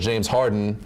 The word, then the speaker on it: Harden: Let's talk about number 3 on the list, James Harden. First of all, I think you said his name wrong. It's James Harden. No D. No D.